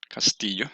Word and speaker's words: Castillo: My name is Castillo, or Castillo as it is pronounced in Spanish, and I'm going to